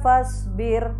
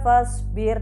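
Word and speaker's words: فاصبر: bisa dilihat Wali robbika fashbir Wali robbika fast Bird tipis saja bacanya tanpa mencucu wa lirobbika fashbir disitu fashbir fashbir ra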